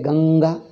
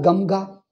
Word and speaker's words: Ganga: Naturally, according to pronunciation, nga alone is right. Shankara. If you put a dot is pronounced the same as ma. Do we pronounce as Shankara? No. Or Gamga? We don't say Gamga, we say Ganga.